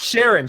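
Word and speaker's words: Sheeran: demonize demonize by Ed Sheridan right is that is that the hope that's coming Sharon is it Sheridan or Sharon it's Sharon Sheridan's a hotel was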